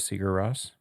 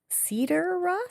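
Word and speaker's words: Sigur Rós: You've never heard of Seagar Ross? No. Cedar Ross.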